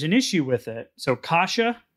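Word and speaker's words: cassia: issue with it so kasha cinnamon it's kind of like kashi but it's c uh in in pronunciation but not a not a not an e at the end and a so kasha it's c-a-s-s-i-a and then ceylon or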